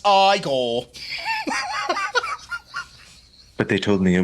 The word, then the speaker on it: Igor: him who writes this he is approached by eigor Dr Frankenstein Frankenstein you're putting me on no it's pronounced Frankenstein do you also say frck no